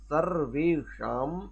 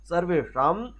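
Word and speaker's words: सर्वेषाम्: आप क्या बोलेंगे, सर्वेषाम, इसको मूर्धन्य, ये शाज होता मूर्धन्य, इसको जब उच्चारण करेंगे ना तो जीवा को थोड़ा पीछे की तरफ मोड़िएगा। वो जैसे टा, अब बोलते ना उच्चारण में टा ठा डा, तो जीभ पीछे को मुड़ जाती है, उसी तरह से इसको शा बोलिएगा, शा, इसको जीवा को पीछे मोड़िए और फिर उच्चारण करिए शा, तो अपने आप ये शुद्ध उच्चारण इसका हो जाएगा।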